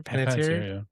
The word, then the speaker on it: Panettiere: Yeah, so there's this theory going around that Hayden um how do I pronounce her last name? Panettiere? Panettiere.